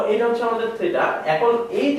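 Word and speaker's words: theta: থিটা হচ্ছে কি, Greek শব্দ, যেটার উচ্চারণ কি থিটা, থিটা। অনেক সময় থিটাও বলা হয়, কারণ ইংরেজি স্পেলিংটা অনেকটা এরকম। তো থিটা বা থিটা যাই বলো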